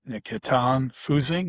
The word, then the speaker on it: Nikitan Fusing: And I have Nikitan Fusing, is it I say it right?